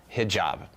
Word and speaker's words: Hijab: Hijab.